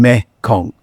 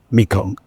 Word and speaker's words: Mekong: And it is called Ma Ganga, or in the Khmer pronunciation, Mekong. Mekong.